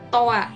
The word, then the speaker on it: toi: Yang tulisannya seperti ini, dibacanya toa. Jadi ingat kalau ada huruf i di akhir, dia akan bunyi jadi a ya, berubah bunyinya jadi a.